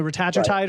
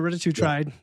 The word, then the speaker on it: retatrutide: tirzepatide and now the depends on how you want to pronounce it, retatrutide or retatrutide. Goes both ways.